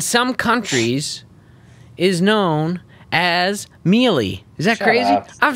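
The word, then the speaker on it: mielie: And maize, in some countries, is known as mealie. Is that crazy? Up. I'm serious. It's spelled M-I-E-L-I-E.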